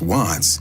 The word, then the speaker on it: Wvttz: didn't proove of it the name WV ttz pronounced wats paid homage to an